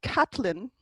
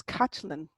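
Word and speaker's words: Caitlín: people mispronounce it because they don't take a look at that slender I sitting next to that T and the slender I that's after it. So it's not Catlin, it's Kachlin.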